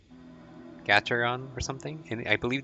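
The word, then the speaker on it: Gateron: but I believe I don't know how to pronounce it it's a g a t e r o n Gaton or something and I believe these are the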